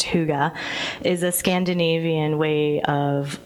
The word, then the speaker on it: hygge: hygge fest hygge spelled hie GE it's not Higgy it's pronounced hygge is a Scandinavian way of life for during